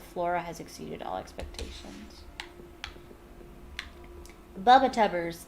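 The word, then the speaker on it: Bubotuber: Bubba-tubbers. It might actually be pronounced bubba-tubers, but that's how I pronounced it as a kid, so that's how I pronounce it.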